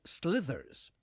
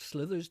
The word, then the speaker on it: Sliotars: The band is called Slithers, but for reasons beyond my ken, it's spelled Sliotars. Does that sound like Slithers to you?